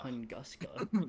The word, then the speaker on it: Tunguska: Tunguska.